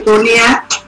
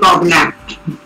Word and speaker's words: Cognac: They will say Cognac, spelling is C-O-G-N-A-C. Do not call it Cognac. C-O-G-N-A-C.